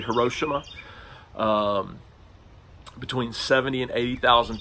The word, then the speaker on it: Hiroshima: on the city of Hiroshima is how you usually hear it pronounced I believe it's probably her Oshima between 70 and 80